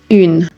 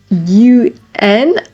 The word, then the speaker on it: un: It is very important that when it's UN alone, you pronounce it with the nasal sound un. It is extremely common for learners to say un. First of all, it sounds like Spanish, un.